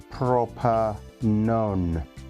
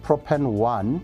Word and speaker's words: propanone: behaving what we call proper known propanone now it's not propane one its proper known that known that's the way you're going to pronounce it it's not one as a number at the end it's not okay and